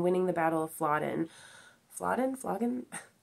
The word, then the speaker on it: Flodden: Flodden? I might be saying it wrong. I think it's Flodden.